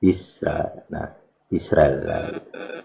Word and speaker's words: Israel: Nah, Israel. Nah, jadi A-nya itu A cepat sebenarnya, bukan A alef yang panjang atau yang diucapkan jedanya panjang gitu, tapi pendek gitu.